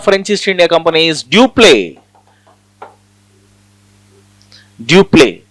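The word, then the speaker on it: Dupleix: East India Company is duple duple x is silent dup he is very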